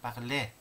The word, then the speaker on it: parler: parler, a이은때에서 은때는 발음이 안 되죠. 그냥 parler.